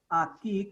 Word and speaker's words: aquí: E aquí, q plus u is k. E aquí, I, it is silent.